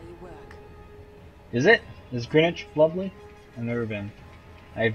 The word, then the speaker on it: Greenwich: Green Witch meantime. Well, yeah. Even as I was saying, it's like, nope, that's not how you say it. It's Greenwich. Greenwich. It's kind of like spinach, but it's Greenwich.